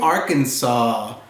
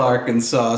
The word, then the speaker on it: Arkansas: Seas to see the imaginary Isle of new Arkansas there's of course a real state of Arkansas but we made up this imaginary island called new Arkansas and we filled it with stuff from the real Arkansas so you'll see here we have a black